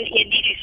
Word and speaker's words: Ioannidis: When in fact, medical experts, like Professor John Ioannidis, I think it's pronounced, at Stanford, Yes.